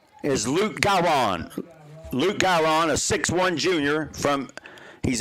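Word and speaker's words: Gahron: get a touchdown from the quarterback Mr guyron or garan I'll get the pronunciation down I'm double checking it is g-a-h-r-o-n so it's gawron yes he scored the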